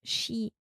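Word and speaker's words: 四: You can pronounce for as she and she is death.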